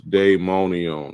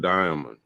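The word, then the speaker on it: daimonion: i o n s demonion that's not Diamond he tried to pronounce it Diamond throw y'all that's Day Day diamond is D this is D AI day monion and let's see what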